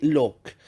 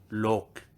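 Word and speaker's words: 六: Imaginez le mot lucky, mais sans le i. Avec ça, tu peux prononcer le numéro 6 en cantonais, donc look.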